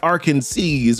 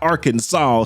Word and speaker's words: Arkansas: And Lois did make mention that "Around here, that's pronounced Arkansaw, which I'm probably still saying wrong, not Arkansas, so my bad, y'all."